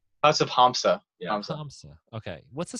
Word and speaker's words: Hamsa: your music - you said it's house of Ponza is that am I saying it right that's of hamsa yeah okay what's the spelling on that the